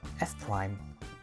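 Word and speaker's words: F′: turn a face anti-clockwise, we use an apostrophe after the letter pronounced as prime, like F prime, R prime, or D prime.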